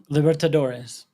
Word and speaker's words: Libertadores: Libertadores. Yeah, Libertoadoro is not anywhere compared to the competitions that he's going to end up playing here.